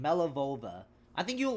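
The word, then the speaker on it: Malevola: Yeah, I got the name wrong. My bad. Oh, okay, here's her name. Melivova. Melivola. That's her name, Melivova.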